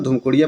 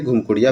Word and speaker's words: धूमकुड़िया: सुनते हुए, और देखिए इसको आप प्रोनाउंसिएट करेंगे तो धूमकुड़िया प्रोनाउंसिएट होगा और कहीं कहीं ये घुमकुड़िया भी होता है।